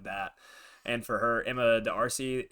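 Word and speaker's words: D'Arcy: and for her Emma the RC is how you say it um playing riro she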